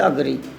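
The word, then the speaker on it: agree: मैं बता दूँ, कई लोग इसे एग्री बोलते हैं, बट इट इज़ नॉट एग्री, इट इज़ जो सही इसको उच्चारण है वो है अग्री।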